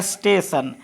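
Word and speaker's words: station: यहां पर T sorry S टी ए टी आई ओ एन टी के बाद क्या आ रहा है आईओ एन इसलिए इस टी का उच्चारण ट नहीं होगा इस टी का ध्वनि ट नहीं होगा क्या होगा स होगा इसको क्या पढ़ेंगे स्टेशन स्टेशन इस टी का ट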